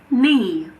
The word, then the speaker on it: knee: K is silent before the letter N at the beginning of a word. For example, knee, knife, night, not, no.